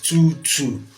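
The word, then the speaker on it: 2/2: call two two now some people call it 2 over two it is not 2 over two okay the right pronunciation is 22 okay we have uh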